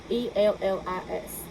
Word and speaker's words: Ellis: E-L-L-I-S. Like the island.